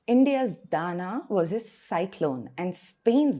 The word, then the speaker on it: Dana: na a pronounced Dan many of course pronounce it as Dana but it is Dana and then two days